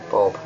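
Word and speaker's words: Bhob: The actual book's actually by Russ Jones and Bob Stewart, and Bob is spelt with an H, B-H-O-B. Bob.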